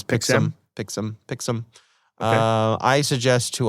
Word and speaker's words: Pixm: Pixelm, yeah, it's Pixelm.